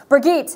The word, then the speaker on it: Brigitte: I'm sorry, it's pronounced Brigitte. Thank you, Nick. Yes. I've been saying Bridget. I've been way wrong.